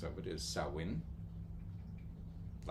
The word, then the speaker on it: Samhain: The most prominent and most um used pronunciations of it is sawin like a sao s o w and in in sin or sawin and they can be used in in interchangeably inter.